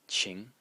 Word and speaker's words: 晴: Association the next character is pronounced Ching again in the second tone and it means um